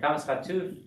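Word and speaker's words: קָמָץ חָטוּף: And comets khatuf is pronounced O, just like the colon.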